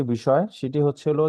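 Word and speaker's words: ب: তারপর আমরা যে হরফটি শিখেছি সেই হরফটি হচ্ছিল বা। এবং এই বাটা হচ্ছে দুই ঠোঁটের ভিজা জায়গা হতে উচ্চারণ হয়। স্বাভাবিকভাবে আমরা যেভাবে থাকি সেভাবে থেকে আমরা এটাকে উচ্চারণ করব, যেমন বা, বা, বা।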